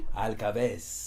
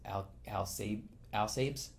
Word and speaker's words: Alcabes: Alcabes. Alcabes. Yeah. Americans can't say it because a lot of people read it as Alcabes. Alcabes? Uh-huh. But it's 3 syllables.